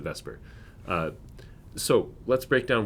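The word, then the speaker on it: VSEPR: an O there or Vesper um of course the vowel isn't quite in the right place but we still pronounce it Vesper uh so let's break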